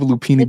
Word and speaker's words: lupini: L U P I N I like it sounds.